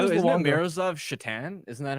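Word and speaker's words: Šatan: So I was always Miroslav Satan or Alexei.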